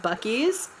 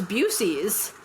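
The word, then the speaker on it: Buc-ee's: But he did not pronounce it bies. He goes, "Oh, I thought it was Buucy's."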